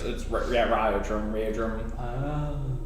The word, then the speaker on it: Raudrem: Did you say? Like, Yeah. Like? Like Raudrem. with a Y, like a? It's not spelled that way, but pronounced Right with a Y. I love it. It's like it's Raudrem.